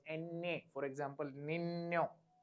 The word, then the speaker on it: niño: N with tilde is pronounced as NA. NA. Sound come from your nose. NA. For example, niño. Niño means little boy.